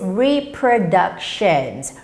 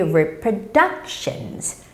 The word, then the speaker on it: reproductions: And we may see the longest word here is reproductions, reproductions. But whenever you see a word with the T-I-O-N ending, the thing is the stress always comes on the syllable in front of it.